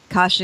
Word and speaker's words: Kasia: Kasia is how you say her name, the courage in people.